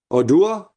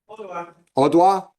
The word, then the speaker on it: Odoa: Is it Oda? How do you say it? Odoa. Sounds French when you say it that way.